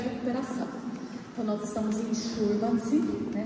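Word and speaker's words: Šurmanci: Então, nós estamos em Schurmannsee, né? Se pronuncia assim, porque tem aquele circunflexo virado em cima do S.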